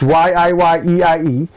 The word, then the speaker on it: YIYEIE: Someone pronounced it YIYEIE. It's YIYEIE.